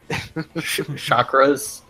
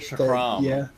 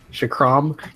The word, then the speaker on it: chakram: I mean, whatever the ultimate thing is, you just like throw a bunch of chakras. Yeah, that's how you pronounce it. Chakram. Chakram.